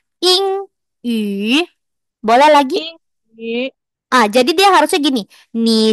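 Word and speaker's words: 英语: Jadi dia mulutnya u tapi suaranya i. Ing, yu. Boleh lagi? Yin yu.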